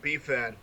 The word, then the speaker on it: BIFAN: he just went to BiFan, the Bucheon International Fantastic Film Festival. And Actually, it's pronounced BiFan, but that's okay. You're all hung up on the I BiFan.